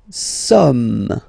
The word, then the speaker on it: sommes: Nous sommes. Okay, nous sommes. Okay, so you don't pronounce the final S here, it doesn't exist. Sommes.